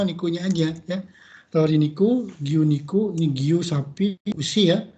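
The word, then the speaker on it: 牛肉: Tori niku, giyu niku, ini giyu sapi, usi ya. Tapi jangan dibaca usi niku, jangan. Tapi dibacanya giyu niku.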